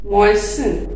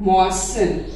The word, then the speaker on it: moisten: इसमें टी लिखा जाता है बट टी प्रोनाउंस नहीं किया जाता। मॉइसन, MOISTEN, नमी वाला, मॉइसन।